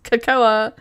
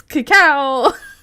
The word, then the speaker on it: cacao: Dugan argued with me that it's not pronounced cacao, it's cakcoa. I'm like, it's cacao.